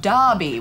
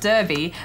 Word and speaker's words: Derby: It's spelt Derby, but apparently you pronounce it Derby. I say Derby. Yeah, well, that's wrong, though, because apparently you say Derby, Derby, Derby, even though it's an E.